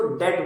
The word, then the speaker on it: debt: तो इसको डेब्ट्स मत बोलना, ये डेब्ट्स नहीं है, इसको डेट बोलते हैं, डेट, ठीक है। वो जो बी है वो साइलेंट रहता है, ठीक।